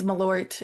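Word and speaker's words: Malört: Do you know how to pronounce this? Jepson's Malort. Yeah, it's Malort, and it's kind of like an herbal Jaeger, I would describe it.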